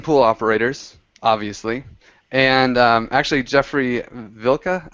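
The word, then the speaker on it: Jeffrey Wilcke: And actually, Jeffrey Vilka, I think his name is German, so I think that's how you say it.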